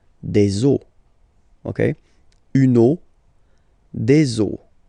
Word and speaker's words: eaux: then it will be, the rule is that you get to put x here at the end, but then same rule, you don't pronounce it. Des eaux.